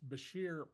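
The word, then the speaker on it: Bushehr: The big concern would be bombing the I believe it's pronounced Basher plant that is uh on the Persian Gulf.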